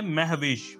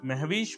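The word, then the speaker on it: مہوش: पहला नाम है महवेश। महवेश को कैसे लिखा जाएगा, आप इसकी दुरुस्त स्पेलिंग जो है वो स्क्रीन पर देख सकते हैं।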